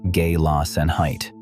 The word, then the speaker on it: Gelassenheit: Gelassenheit, pronounced gay-loss-en-height.